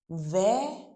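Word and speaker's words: vert: Ver masculine.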